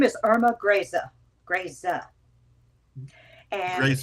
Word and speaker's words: Irma Grese: It's been mispronounced in a lot of documentaries too. Her name is Irma Grese. Grese. And she Greza.